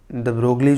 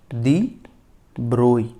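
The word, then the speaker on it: de Broglie: हमने ऐसा देखा था, द ब्रोगली जो है ना उसको हम बोलते हैं दी ब्रोई, प्रोनाउंसिएशन उसका दी ब्रोई होता है। ओके, वैसे जनरली आपने सुना होगा दी ब्रोगली, बट इट इज दी ब्रोई।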